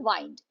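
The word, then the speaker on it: wind: इसे विंड नहीं कहते हैं, इसका प्रोनाउंसिएशन है वाइंड.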